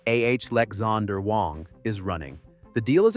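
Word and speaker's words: Alexandr Wang: that former scale AI CEO Alexander Wang for pronunciation ah Lexander Wong is running.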